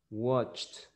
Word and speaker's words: watched: In the present, watch, watch is with CH. Yes, in the end. So the pronunciation will be with T. So you will say watched, watched, watched, watched.